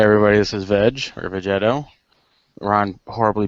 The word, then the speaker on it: Vegetto: me um hey everybody this is veg or vegetto Ron horribly butchered my name in that little thing he did V he said Vegeta he did say vet no he's anyway yeah